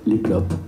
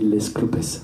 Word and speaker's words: Les Clopes: si vous avez envie le groupe s'appelle les clopes mais vous pouvez le prononcer laisse clopes si vous avez envie car certains le propose comme ça et ça donne quelque chose d'un peu plus pimenté un peu sympa l'escopes nous allons partir